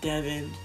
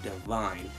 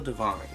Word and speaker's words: Divine: Not Devin, not Devine, but Divine. Even though it's spelled with the E, it's still Divine.